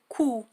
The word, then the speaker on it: coup: كو كو، إذا لا تنطق ب، نقول كو، وتعني ضربة.